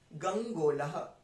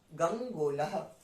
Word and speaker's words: गंगोलः: गंग अंगा ग अंगा, पर यहाँ पे आधा है गंग, अंगा आधा है, तो हम उसको क्या बोलेंगे, गंग, और तुरंत हम दूसरा वाला वर्ड जो लेटर है उसको प्रोनाउंस कर देंगे, गंगोलः गंगोलः, ठीक है, गंगोलः।